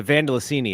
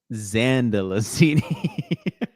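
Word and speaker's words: Zandalasini: Carla, it's just the Vandelicini is still out there. Vandelicini and say her name with a Z, please. Vandelicini? Zandelicini.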